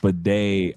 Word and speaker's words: bidet: Pronounced bidet.